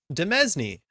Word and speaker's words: demesne: some Fay adjacent fiction demesne definitely thought you pronounced the s in it yeah once again I'm